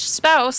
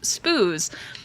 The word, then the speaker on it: spouse: think that spouse was pronounced spouse they thought it was pronounced spoos because they had never heard the word out loud so like